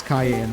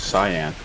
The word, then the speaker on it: cyan: The proper way to pronounce it is cyan.